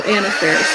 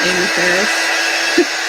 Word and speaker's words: Anna Faris: Oh, Anna Faris, not Amy Ferris. Jason says I didn't say it right.